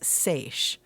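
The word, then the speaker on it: seiche: So, the one that we picked out was SA. Are you familiar with it? And for those who aren't, it's spelled s e i c h e.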